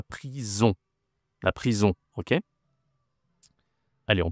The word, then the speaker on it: prison: La prison, attention, la prononciation, c'est une nasale ici. On. C'est pas la prison, hein, c'est la prison.